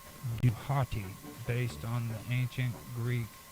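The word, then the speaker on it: Djehuty: equivalent of Inky okay the Egyptian pronunciation of d DH WT Y is not fully known but may be reconstructed as duati based on the ancient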